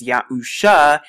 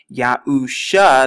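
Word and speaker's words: Yahusha: Ya-U, so Ya-U-A, and then the name of the Messiah, read from right to left, is Ya-U-Sha, Ya-U-Sha, the U, Shan, and the Ayan.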